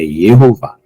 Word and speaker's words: Yehová: A palavra, aqui, em algumas traduções, foi colocado como Jeová, mas o J, até o século XVII, era pronunciado como I, por isso que a pronúncia não é J, Jeová, tá? É Yehová, tá bom?